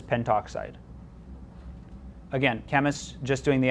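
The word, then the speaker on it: pentoxide: five, this would be penta oxide. And if you wrote penta oxide, anyone would understand what you mean, but by convention, we would typically pronounce and probably write this as well just as penttoxide.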